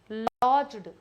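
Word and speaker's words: lodged: और police station ही लॉज्ड इसको laws बोलते हैं। ठीक है? डी साइलेंट होता है थोड़ा सा बोलने के समय हल्का सा लॉज्ड लॉज करना मतलब एंट्री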